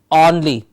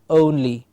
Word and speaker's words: only: o are only here what happens is the o becomes or and it becomes only i was only going there it's oh only notes and otes notes